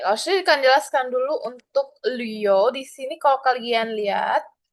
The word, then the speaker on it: Liu: Oke, Laoshi akan jelaskan dulu untuk Liu. Di sini kalau kalian lihat, nada bacanya ada titik 2, lalu nada ketiga. Nah, itu dibacanya sepertinya agak lebay ya. Jadi harus diputar lidahnya ke atas.